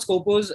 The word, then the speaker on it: Skopos: And I'm guessing I got that name right. Yeah, of course, you got it right. Thank you for pronouncing it right. It's always a pleasure to hear that name in the right fashion, right?